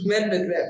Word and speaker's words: Medvedev: I have a problem with sometimes pronunciation of tennis names. Is it Denis Medvedev? Am I correct? It's Daniel Medvedev. Medvedev.